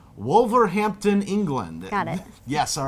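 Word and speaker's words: Wolverhampton: Alex and Daniel from let me hope I'm pronouncing this right wolver Hampton England got it yes all right they are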